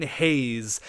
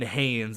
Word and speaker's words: Hayes: The first thing is it's Kevin Hayes. Kevin Hayes. I understand that it's not Kevin Haynes. I've been pronouncing it Haynes. I don't know why. I just threw a random N in there.